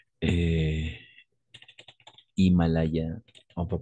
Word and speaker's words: Himalaya: on va prononcer et Himalaya on peut prononcer hors de sujets par exemple or toujours le H est muet on ne prononce pas le H voilà mais attention